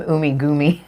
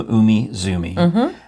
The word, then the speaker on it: Umizoomi: And so I love that you're calling it Team Umigoomi. Well, now that I realize I've written down, I wrote it correctly. I didn't spell it right, but I did look. Obviously, I wrote Team Umizoomi.